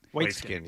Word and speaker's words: Waitzkin: But so after high school, how do you pronounce Waitzkin? Waitzkin, yeah.